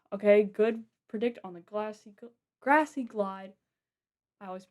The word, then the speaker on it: Grassy Glide: Okay, good predict on the Grassy Glide. I always mispronounce that. I always mispronounce it as Glassy Glide for some reason.